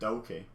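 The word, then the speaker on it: Douki: never say his name i think it's doki i don't know um let me know in the comments these pronunciations what i say right among um i've never really quite known what that vowel sound is in the middle of doki i'm gonna go with doki it's not dookie is it that's poop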